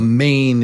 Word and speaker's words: mane: A mane is on a lion. It's the hair around a lion's face is called the mane, his mane. So, mane is m a n mane mane. So, let's say them say them with me uh back-to-back.